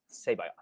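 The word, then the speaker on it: C'baoth: jorus g-o-r-j-o-r-r-u-s and then it's C apostrophe b-o-a-t-h George crazy sorry it's c-b-a-o-t-h say bye is how you pronounce it okay he's in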